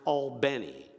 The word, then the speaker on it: Albany: It's pronounced Albany, where freedom songs like "We Shall Overcome," they